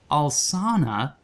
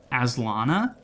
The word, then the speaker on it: Alsana: I originally read it as Aslana, and just never re-examined it, and just kept saying it like that the entire time, and I feel so sheepish because it's Alsana.